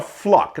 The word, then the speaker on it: Fluke: a woman named Sandra fluck now it's it's spelled fluke but it's pronounced fluck she came out to